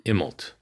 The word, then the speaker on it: Immelt: Immelt.